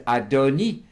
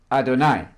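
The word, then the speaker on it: אֲדֹנִי: at that second law the word is the adoni there's a vowel here underneath the noon there pronounced e not i not adonai absolutely not that makes a huge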